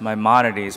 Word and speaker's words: Maimonides: It's pronounced Maimonides, but half the people in the hospital can't pronounce it either, so you can just call it apologize.